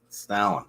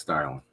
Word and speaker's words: Starlin: It was Jim Starlin. I think is it Starlin or Stalin? I don't know. It's Starlin.